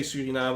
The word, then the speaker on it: Suriname: be seeing suriname and we will say suriname because that's the dutch way to pronounce it all the other countries